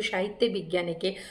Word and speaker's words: সাহিত্যে বিজ্ঞানে: তার পাশে থাকবে সবাই সাহিত্য বিজ্ঞানের পাশে থাকবে আমি স্পেলিংটা বলে দিই অনেকে উচ্চারণ করে সাহিত্য বিজ্ঞান সাহিত্য বিজ্ঞান আমার চ্যানেলে নাম নয় আমার চ্যানেলের নাম সাহিত্যে বিজ্ঞানে হুইচ ইজ এস এ